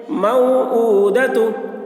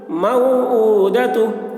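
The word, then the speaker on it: موعودة: بھی نہ کھینچیں۔ موعودہ۔ تا پیش تو، تا کے اوپر پیش ہے، پیش کو جلدی پڑھیں، تھوڑا بھی نہ کھینچیں، معروف پڑھیں، مجہول آواز سے بچیں۔ موعودۃ، موعودۃ۔ تو اس طریقے سے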